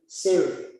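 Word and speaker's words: tsere: Now, the segol, which is a short vowel E, called E, will lengthen to a sire, which is pronounced as the E in They, which has an A sound.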